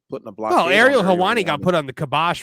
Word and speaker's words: Ariel Helwani: him and uh what Ariel how do you pronounce his name AR is it Ariel Ariel Ariel helani yeah Ariel helwani he's very jealous of Ariel helwani well yeah